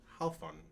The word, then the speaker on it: Halfun: The name is pronounced Halfun. Halfun.